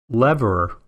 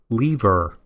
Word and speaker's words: lever: let them you know say the word they say actually or you know just listen to that lever or leaver so they actually should suggest to me that i could use both pronunciations - i think it's maybe a region thing but it's not the